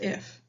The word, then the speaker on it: IIF: IIF is pronounced if.